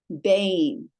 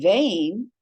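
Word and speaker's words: בין: Beit, seirei, yud, nun, sofiyth. Bane. Okay, so this is vain, and this is bane. It's actually the same word. It means between. The one spelled with a veit, the other spelled with a beit.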